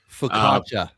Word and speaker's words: Pepiot: And then last, I have Ryan Pepiot. Pepiot. Pepiot, it's pronounced.